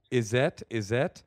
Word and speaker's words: Izette: Izette? Yep, that's how you pronounce Izette.